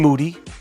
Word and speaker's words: Moody: As promised, Moody, last name rhymes with duty.